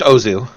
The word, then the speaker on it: Ozu: And he begins OZ News, still pronounced Ozu, where he's also talking very rapidly in English in a very childish way.